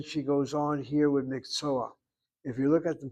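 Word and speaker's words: מקצוע: not the sounding vowel, there's a stolen patak phenomenon. The word is mikso, but to blend to the ayin letter, you go miksoa, miksoa, and the a is pronounced before the last letter.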